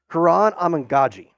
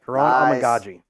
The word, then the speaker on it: Kiran Amegadjie: name now just so I get it right, Kiran Amegadjie. We're going to make sure we get that right. Kiran Amegadjie.